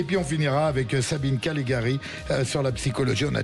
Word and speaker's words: Callegari: avec nous Madame Sabine Calegari. J'ai bien prononcé? Parfait. Voilà. À l'italienne. Voilà, à l'italienne, mais c'est plus du Nord.